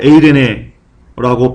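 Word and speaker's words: εἰρήνη: 여러분 여기서 이 평화는요, 원어로 에이레네라고 발음합니다. 에이레네는 동사 에이로에서 파생된 단어인데요.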